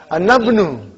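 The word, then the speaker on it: أنا ابنُ: But how will I pronounce? Anabnu. How will you say? Anabnu. Anabnu I'll pronounce.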